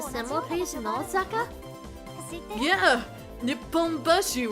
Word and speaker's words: Nipponbashi: You're thinking of Nihonbashi. The one in Osaka is called Nipponbashi. Don't they have the same... Oh, don't they have the same kanji? Yeah, that's why you use different pronunciations to tell them apart.